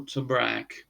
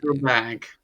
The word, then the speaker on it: Trebek: Alex Trebek, Yeah, Tor Tobrak. I can pronounce One that name. not Alex Trebek. I'll say it. yeah, Alex Trebek.